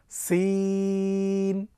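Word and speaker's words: سين: এরপরে আসি সিন, সিন হরফটি কিন্তু থায়ের মতো নরম নয়। আপনারা দেখতে পাচ্ছেন সিন হরফটি উচ্চারণ হবে বেশ একটু শীষ দিয়ে এবং চিকন করে। আমার সঙ্গে পড়ুন, সিন, সা সি সু, সিন, সা সি সু, মাশাল্লাহ।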